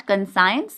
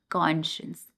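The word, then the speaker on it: conscious: Deep in once not कंसाइन कॉन्शियस। बहुत सारे लोग इस वर्ड को गलत प्रोनाउंस करते हैं। यह कंसाइन नहीं होता है। क्या होता है? कॉन्शियस।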